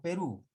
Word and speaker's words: Perú: cita estoy marca pero perú porque lleva tilde porque es una aguda la mayor fuerza de voz está en la última si la perú y